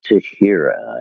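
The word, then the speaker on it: Teixeira: But it's pronounced Tashira, I guess.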